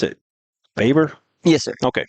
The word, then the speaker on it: Baber: You pronounce it Baber? Yes, sir. Okay, Baber, wide receiver, safety, both seniors.